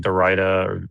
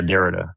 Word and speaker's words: Derrida: You were talking about like Dorita or Dorita. I don't know how you say his name. Postmodern. Yeah, Derrida.